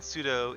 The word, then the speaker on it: pseudo: fact that's kind of it's its name actually pseudo widow is a play on like if you